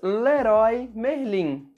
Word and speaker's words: Leroy Merlin: Em português, nós falamos Leroy Merlin. A letra Y em português tem exatamente a mesma pronúncia da letra I em todas as situações.